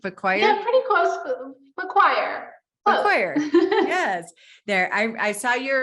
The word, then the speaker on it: Faquir: Faquir.